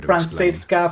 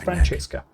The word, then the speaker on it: Francesca: I love how they're pronouncing pronouncing Francesca, right? Because it's usually you get to hear Francisca, Francisca, it's Francesca.